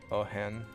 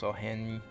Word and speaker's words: Oheň: I like this. Ohen. I think that's how you say it. Oheň. Yeah, it's Ohen. The little V. You add a little to it. There's also Ziara.